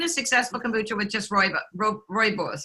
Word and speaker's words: rooibos: We got more questions coming in, but Linda says, have you seen a successful kombucha with just rooibos? How do you say that? Rooibos?